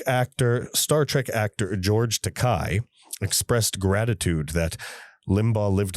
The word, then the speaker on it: Takei: George tocai you piece of shit. Oh my I love watching other people die. I'm George dekai tocai rhymes with dye.